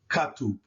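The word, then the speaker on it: كتب: T and the B, the K is hard, so it's pronounced Katub, Katub, Katub.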